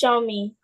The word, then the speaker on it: Xiaomi: the person's name that begins with X is pronounced Xiaomi. Show me.